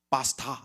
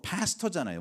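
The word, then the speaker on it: pastor: 그랬더니 저한테 파스타 이렇게 부르더라고요. 원래 영어로 파스터잖아요, 목사가. 근데 이제 발음이 파스타 그래요.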